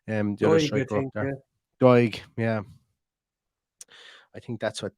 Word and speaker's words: Doig: Is that how you pronounce his name? The other striker up there. Doig, yeah.